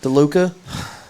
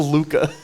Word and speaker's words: Luka: DeLuca? Did I say it right? No, Luka.